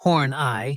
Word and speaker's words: Horney: Another of his characters, Tyrone F. Horney, pronounced Horn-Eye, was a creepy old man who spent every episode unsuccessfully flirting with Ruth Buzzi's character, Gladys Ormsby.